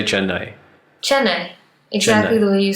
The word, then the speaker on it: Chennai: Sometimes I feel like I'm not digging into the N hard enough and jumping out of the AI briskly enough, like I'll tell you